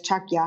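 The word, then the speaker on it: ཕྱག་རྒྱ: means if brook is actually consists of two syllables um it's one in english but it's chakya and tibetan and so um chalk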